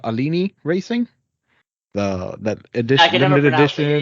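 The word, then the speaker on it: Alinghi: Alini Racing? That edition, limited edition. Yeah. I'm going to say Alini. I think the G is silent.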